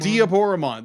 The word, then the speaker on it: Diaboromon: fight between omnimon and be de Boran diaboromon diaboromon thank you because it's going to be the Japanese vers pronunciation of Diablo so dioro diaboromon like now